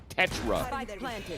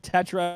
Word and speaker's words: Tetra: that were saying that it's actually pronounced here Tetra, like a Tech and Ra.